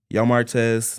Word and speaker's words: Yo! Martez: Texas or surrounding area yo Martz that's how you pronounce it is the clothing store